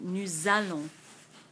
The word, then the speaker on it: nous allons: Now, normally this S in nous is not pronounced. It's usually pronounced nous. But because of this A, because of this vowel in allons, we do pronounce it. Nous allons.